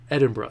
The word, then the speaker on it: Edinburgh: Edinburgh, that's how you say it.